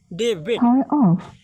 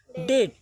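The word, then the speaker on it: debt: को का पढ़ लेना डेबिट, तो डेबिट नहीं पढ़ने का पढ़ने डेट, ठीक है।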